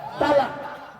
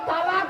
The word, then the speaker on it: তলাক: শব্দটা তালাক নয়, শুনেলেন আজকে? সুলতানপুরের মানুষ শুনে নিন, শব্দটা তালাক নয়। শব্দটা কি শুনুন, তলাক। তলাক ওর আরবি উচ্চারণ কি? তোয় লামালি ক। বাংলা উচ্চারণ কি? তয় বয় লয়াকার ক।